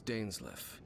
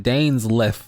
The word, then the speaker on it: Dainsleif: your travels my name's dainsley i suppose you have some business with me ah we've been pronouncing his name wrong the entire time danes lift well i was hoping